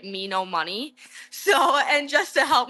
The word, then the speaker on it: Menominee: That's really funny that you say that because I think still to this day when I type out Menominee, I say it me no money.